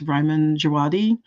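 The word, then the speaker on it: Ramin Djawadi: A lot of Thomas Campion, a lot of, I can never pronounce his name properly, but I think it's Ryman Djawadi, who did the Game of Thrones soundtrack, and he does Westworld and things like that.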